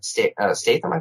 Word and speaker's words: Statham: I tried the carnivore diet again because, Travis Statham. That's how you pronounce his last.